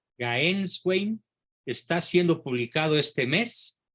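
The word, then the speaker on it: Gänswein: Se escribe G-A-N-S Wein. Gaenswein.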